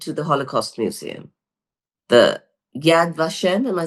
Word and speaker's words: Yad Vashem: Israel I went to the Holocaust Museum the Yad vashem am I saying it right yeah Yad vashem um and there was a lot of talk